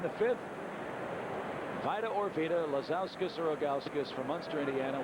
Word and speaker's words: Lazauskas: Vita Lazauskas from Munster, Indiana is our contestant. You making that up? No. L-A-Z-A. Is it spelled like it sounds? It's like Ilgauskas, but with a Lazau in front of it.